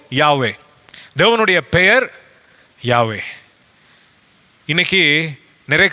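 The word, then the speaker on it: Yahweh: அவர் சொல்லுகிற காரியம் என்னவென்றால் இது யாவே என்று உச்சரிக்கப்பட வேண்டும் என்று பிரிட்டானிக்கா என்சைக்ளோபீடியா சொல்லுது எனவே இந்த வார்த்தையினுடைய சரியான உச்சரிப்பு யாவே தேவனுடைய பெயர் யாவே இன்னைக்கு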